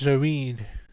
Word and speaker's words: Zeroth: the latest record from zeroth pronounced zarid award-winning composer and earth